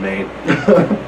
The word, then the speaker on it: Maine: And it's not Maine like M-A-I-N. It's like state, M-A-I-N-E. E. The E is silent.